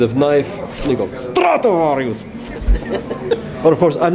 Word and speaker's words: Stratovarius: How do you pronounce in Stratovarius? Finnish. In Finnish is Stratovarius.